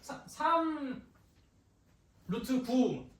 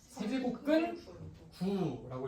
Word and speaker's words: 세제곱근 9: 이거 읽는 거 물어봤더니 4 루트 27. 안 돼. 3 루트 9. 지멋대로 읽는 사람들이 꼭 있어요. 근데 이거 학교에서도 선생님들이 잘 못 읽는 경우들도 있다고 하대. 그래서 원래는 정확하게 뭐라고 읽어야 된다고? 세제곱근 9라고 읽으셔야 됩니다.